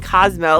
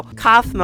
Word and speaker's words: Kaufmo: But then when we see Cosmo, why am I saying Cosmo? Like from the Fairly Odd Parents. No, Kaufmo, I'm pretty sure that's how you say it.